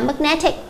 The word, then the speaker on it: magnetic: Câu B chúng ta đọc là magnetic. Chúng ta nhìn thấy đuôi X trọng âm rơi vào phía trước nó.